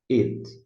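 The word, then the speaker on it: אֵת: Ele está aí só para isso, mas ele não se traduz, não. It, mas se pronuncia. It.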